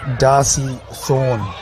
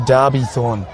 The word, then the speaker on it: Derby Thorne: We're going to be having a minute silence for Ingred Harvey and Darcy Thorne. Sorry, Derby Thorne. Um very remiss me to get that name wrong, but a tragic loss, two tragic losses in the offseason.